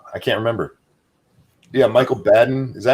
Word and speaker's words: Baden: Yeah, Michael Baden.